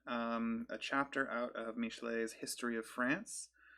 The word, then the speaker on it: Michelet: one um I read Joan of Arc by Michele a name I definitely did not know how to pronounce before I looked it up um this is technically um a chapter out of mishlay's history of France it's written I believe in